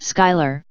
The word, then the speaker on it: Squealer: mystical and I swear Squealer pronounced Skyler chrome will charm you